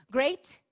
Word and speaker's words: great: Great, de grandioso, rima com hate.